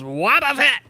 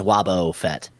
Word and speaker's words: Waboof Fett: It's Waboof Fett. Oh, sorry. I'm not familiar with that. It's two different words. It's like Woof Fat.